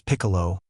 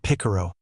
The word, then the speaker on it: Piccolo: His name is Piccolo, not Picaro.